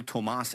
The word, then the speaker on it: Tomas: He pronounces his name Cole Tomas Allen.